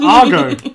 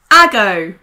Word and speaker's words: Argo: He says Argo. And that's a film with Iranian diplomats. Ben, that's a terrible mispronunciation. Ago. Yeah. Like, you know, say, a while ago, I knew how to say his name.